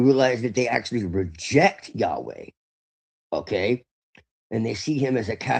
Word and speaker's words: Yahweh: Now, the Shekinah is supposed to be the divine feminine, but what you find out is that really Yahweh is, which is the actual pronunciation, is actually androgynous.